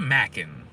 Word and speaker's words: Macan: It's a Macan. Like macadamia. It's spelled like macadamia.